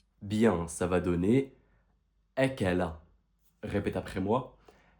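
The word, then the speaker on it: أكل: À ton avis, cette lettre avec trois fathat, ça va donner quoi en prononciation? Bien, ça va donner akala. Répète après moi. Akala.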